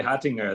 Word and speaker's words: Hottinger: hunger pronounced it okay because it's a it's a european name but we yeah you say hattinger there yeah that's funny we